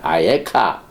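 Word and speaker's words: אַיֶּכָּה: 여기 아예카 내가 어디 있느냐. 근데 에이카 발음만 다릅니다. 스펠은 똑같고 발음만 다르.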